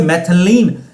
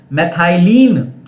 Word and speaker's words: methylene: विनय ने उसका नाम फॉर्मूला लिखा है, बट प्रंजलि ने उसका नाम लिखा है, बट स्पेलिंग रॉन्ग है, कोई बात नहीं। CH2 से मैथिलीन, मैथाइलीन, मैंने आपको ये बताया था, मैथाइलीन यूनिट उसे